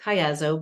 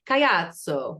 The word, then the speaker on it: Caiazzo: It's pronounced Caiazzo, but if we were in Italy, we would say Caiazzo with the hand.